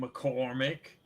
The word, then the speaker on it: McCormick: It's Ira, which is spelled Eira, and then McCormick, which is M little c big C ORMICK. Mormick.